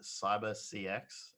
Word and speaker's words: Cyber CX: It was pretty like that's how big it was, but they decided to call it Cyber CX, and nobody went, hey, you know what? That's pronounced Cybersex, and now like as